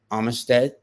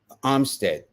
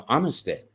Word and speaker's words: Armistead: go to Danielle uh Armistead Armstead no Armistead yeah that's that's the pronounced way of saying it they are an air